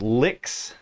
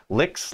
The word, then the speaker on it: Lyx: uh this is the brand is licks I believe that's how you say it l y x licks like guitar licks uh and this thing